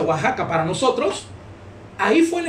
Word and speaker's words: Oaxaca: un lugar llamado y oaxaca positivo ataca pero se pronuncia oaxaca para nosotros ahí fue